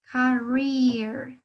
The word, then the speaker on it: career: por ahí una vocal doble, es decir, doble E, en este caso, suena como una I, ¿no? Una I alargada. Career, career. That's right.